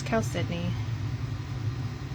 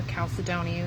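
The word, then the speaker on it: chalcedony: It's Cal Sydney or Calcedon, however you want to pronounce it.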